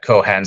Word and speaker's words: Cohan: pint at at Pat kohan's Uh here we pronounce it Kohan Kohan um WR his